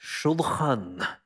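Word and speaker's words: שולחן: The second piece was the table, and it sounds in the original as shulchan. Shulchan.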